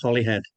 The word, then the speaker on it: Holyhead: Catherine's, you were at the Holy Do you do you pronounce it Holyhead or is there another pronunciation? We call it Holyhead. Holyhead Holyhead. Yeah, it's it's actually spelled Holyhead.